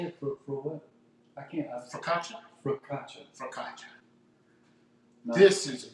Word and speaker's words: Focaccia: Focaccia.